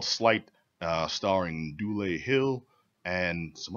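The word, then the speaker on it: Sleight: And don't pronounce it Slate. I made that mistake at one point.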